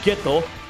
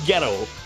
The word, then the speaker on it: Geto: I know he's pronounced Geto, but I keep calling him Ghetto.